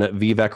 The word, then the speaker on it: Vivek: It's Vivek.